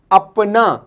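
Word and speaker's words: اپنا: इसी का दूसरा यूज़ है अपना, अलिफ पे नून अलिफ, अपना, अपना, अपना इंग्लिश में कहलाता है, सॉरी, ऐसा, अलिफ ये सीन अलिफ, ऐसा।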